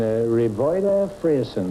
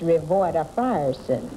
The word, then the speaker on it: Revoyda Frierson: Willie Spurlock and Revoyda Frierson. Is that how you pronounce Well, it? no, that's not exactly right. It's Revoyda Frierson.